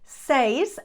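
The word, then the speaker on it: seis: tres cuatro Cinco says I am not sure why this one is always pronounced wrong says and they always misspell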